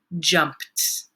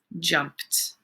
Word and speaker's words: jumped: mmm jump jumped jumped remember yesterday we learned what sounds hmm the IDI suffix makes so remember when you're writing this one down jumped it sounds different than how it is spelled jumped okay moving on to